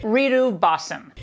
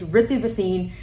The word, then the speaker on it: Ritu Bhasin: So first of all my name is pronounced RIH-thu bah-seen, not the variation that she presented. "Reetu bah-sin" It's Ritu Bhasin.